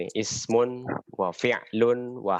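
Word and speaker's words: فعل: Fi'il. Ya, kita bacanya fi'il, tapi aslinya fi'. Fi'lun ya. Fi'lun.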